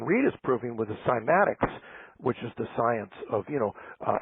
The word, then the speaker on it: cymatics: And what John Reed is proving with the cymatics, which is the science of, affecting form with sound and changing form with sound, which is very profound. It can also be pronounced kymatics. Both are correct.